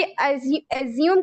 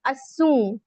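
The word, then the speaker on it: assume: ठीक है, लोग मोस्टली एज्यूम कह रहे होते हैं, बट इट्स नॉट एज्यूम, इट इज असूम।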